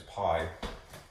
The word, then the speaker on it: pi: to use this symbol, this Greek letter for P, which we sort of mispronounce in English as pi, right?